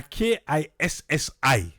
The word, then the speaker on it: Kissy: We dey spell it now Kissy, but na Kissi.